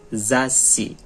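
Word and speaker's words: 雑誌: Zashi. Huruf sa, tapi dia ada teng-teng menjadi za. Ada su kecil, berarti dia zashi. Cara bacanya zashi.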